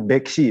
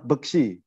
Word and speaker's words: Beksi: silati daya apa eh salah salah pengucapan Beksi padahal pengucapannya adalah besi jadi besi itu sendiri